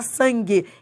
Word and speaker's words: sangue: É porque o U não é pronunciado. Você não fala sangue, você fala sangue.